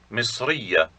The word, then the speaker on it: مصرية: This ta may be pronounced as an A sound if the word is in its final position and nothing is attached to it.